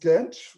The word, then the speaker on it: Genç: By the way, my last name is pronounced Genç, which means young, so I'm young forever.